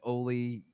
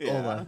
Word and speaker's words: Olle: a little bit, and we all pronounced it like Olle Jokinen, so we said Olle Lycksell. It's Ola, yes, but nonetheless.